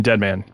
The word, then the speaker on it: Dead Man: Romeo is a dead man, which is how we're going to be pronouncing that from now to the end of time. It's actually Deadman.